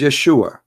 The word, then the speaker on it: Yeshua: those it isn't because they cannot pronounce the correct word the correct word in the Hebrew is Yeshua as simple as that